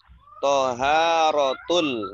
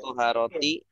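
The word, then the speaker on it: طهارة: Toharotul. Nah, ini tadi bingung nih. Ini tadi bacanya apa Pak Yadi? Toharotu atau toharoti atau toharota? Toharotu. Nah, kalau toharotu sudah betul.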